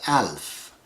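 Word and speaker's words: ألف: a a is aleph one pronunciation of the aleph is also alf if you say alf or alf you write it exactly the same way because the sounds are not a part of the alphabet it's just a sign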